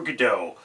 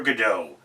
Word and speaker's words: Godot: It's not Godot, as it is originally written in French, but translated to English, it's Godot. The T is silent because French.